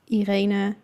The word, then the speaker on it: Irene: but I was like, if you want to know how they would be pronounced in Dutch, it would be Juliana, Beatrix, Irene, and Margriet.